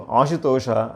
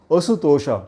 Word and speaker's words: Ashutosha: Ashu is quickly, and unfortunately people who do not know these words sometimes mispronounce. I heard a person refer to a friend by name Ashutosha as Asutosha because of the English spelling. So Asutosha would mean a person who can never be pleased.